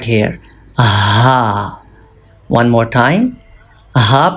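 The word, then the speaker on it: ح: Ha pronounced from throat. And this is upper part of throat, middle part of throat, and lower or farthest part of throat.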